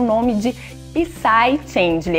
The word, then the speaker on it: Psy: Eu sempre acho que tem que falar esse P, mas não tem, é apenas Psy.